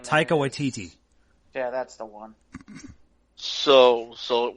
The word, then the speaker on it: Taika Waititi: So Tiki, whatever his name is. Taika Waititi.